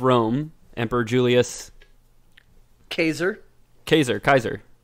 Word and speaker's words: Caesar: emperor julius caser caser kaiser that was actually actually how it was pronounced caesar or kaiser kaiser yeah kaiser yeah